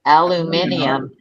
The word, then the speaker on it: aluminium: Aluminium. No. It's an extra. You're putting an extra vowel in there.